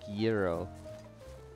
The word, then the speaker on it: gyro: wise it's zero oh okay zero in greek euro if you're in the us zero and if